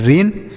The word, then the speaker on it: rain: आर से र पढ़ेंगे और यन से न पढ़ेंगे, और ए आई का उच्चारण ए की मात्रा, ये लिखा गया है रेन।